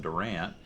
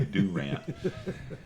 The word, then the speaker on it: Durant: I graduated high school in Durant, which is about an hour and a half west of here. You said it wrong. Yeah, it's supposed to be Durant.